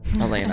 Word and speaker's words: Elena: Shout out Elena, because I guess I was pronouncing her name wrong. She told me. There you go. Elena. Elena.